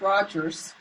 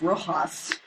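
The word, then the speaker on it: Rojhaz: Well, it's pronounced Rogers. It's just spelled like it's pronounced Rojas.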